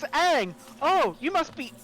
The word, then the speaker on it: Aang: Because they absolutely mispronounce the characters' names all the time. Like, oh, look at this, it's Aang! Oh, you must be Ong!